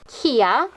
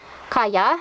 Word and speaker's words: Kaya: Kia. Kaya. Sorry, I call her Kia. Bad pronunciation from younger me.